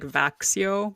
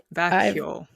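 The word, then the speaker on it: Växjö: It's spelled V-A-X-Y and then you'd think it would be like Vaxio, but that's not it. That's apparently not the way you say it. Vacchio.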